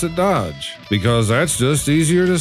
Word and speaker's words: DOGE: And to address some comments that I've received recently, yes, I know that they are pronouncing it Doge. But this is my show, and I'm going to pronounce it Dodge, because that's just easier to say.